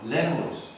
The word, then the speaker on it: lemur: They're called Lemurs. lemurs. lemur, Lemurs. lemur. It rhymes with femur, a bone in your leg.